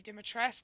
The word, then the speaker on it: Dimitrescu: The very Dimitrescu. Same. See, I told you that's how it's pronounced.